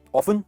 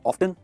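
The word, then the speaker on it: often: Right, ऑफन या ऑफ्टन दोनों कह सकते हैं। ऑफ्टन है ना ज्यादातर अमेरिकन यूज करते हैं, पर मैं आपसे सजेस्ट करूंगा कि आप ऑफन यूज करो, क्योंकि यही ज्यादा यूज होता है।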